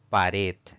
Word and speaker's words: pared: tiene dos sílabas pero la mayor fuerza de voz al pronunciar esta palabra recae en la última sílaba contando de derecha a izquierda Entonces es una palabra aguda